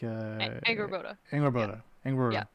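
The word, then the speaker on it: Angrboda: But faster, like Anger Boda.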